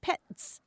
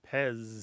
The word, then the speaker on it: Pez: last letter Z and in German that's pronounced pets mhm but in English we pronounce it Pez Pez I see it